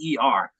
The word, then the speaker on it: Worcester: do that when it's just write Wister, right? And they're like, "What's that?" I'm like, "It's Worcester." Right?